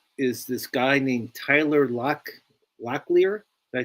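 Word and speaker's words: Locklear: For the Diamondbacks is this guy named Tyler Lleier. Did I say it right? Lleier.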